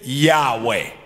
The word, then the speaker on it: Yahweh: To be pronounced this holy name, the Jews gave it vowels and called it Yahweh, translated Lord in all caps, or Jehovah.